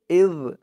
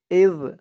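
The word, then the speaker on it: إِذْ: তারপরে ইয ক্বালা ইব্রাহিমু ইয ক্বালা হামজা দিয়ে জাল ধরবে ইয ইয জালের উচ্চারণটা কিন্তু একদম নরম পাতলা করতে হবে।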